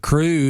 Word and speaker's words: Cru: overview of the organization crew and that's spelled c-r-u let's tell people what you do and the scope in terms of geographic scope of of the organization sure uh crew is a international organization